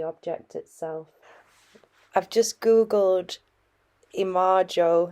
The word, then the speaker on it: imago: Hence, in practical psychology, we should be well advised to differentiate the image or imago of a man quite differently from his real existence.